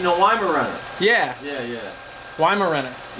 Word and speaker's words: Weimaraner: lima run yeah yeah why marenick yeah is how you say it Weimaraner yes the German goes